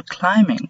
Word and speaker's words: climbing: Wall climbing wall جدار. Climbing تسلق. One thing I would like to try is wall climbing. البي لا تلفظ هنا.